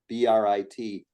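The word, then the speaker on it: ברית: covenant, the Hebrew word for covenant is BRIT. In Hebrew, it's pronounced Brit, but in English, it's Brit.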